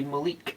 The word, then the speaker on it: Malik: Um, it's not Malik. It's It's usually Malik.